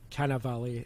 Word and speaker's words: Cannavale: performance in it is canna valley is how you pronounce this valley bobby cat bobby ken of cannavales open up a can of